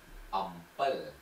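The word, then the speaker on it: អំពិល: In Khmer, okay, look at my mouth and listen my pronunciation. Okay, so for tamarind. Ampel.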